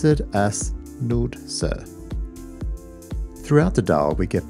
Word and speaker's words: Nordsø: dots in Swedish and it's pronounced ER as in Fern and we pronounce o as in Moon rather than Lord so if you want